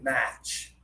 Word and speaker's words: match: The sound comes from It's not like ah ah ah like cough.